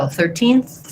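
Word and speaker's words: thirteenth: Some other people have challenges where they might tend to say more of an S sound in this word. That means your tongue is too far back and it needs to move a little forward and be between the teeth.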